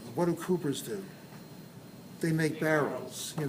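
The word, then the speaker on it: Cowper: c-o-w-p-e-r apostrophe has glands and most people say Calpers glands but probably the correct pronunciation should be coopered the name is a trade name what do Coopers do they make barrels here they make barrels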